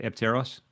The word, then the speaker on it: Apteros: Am I saying it right? Apteros? That's right.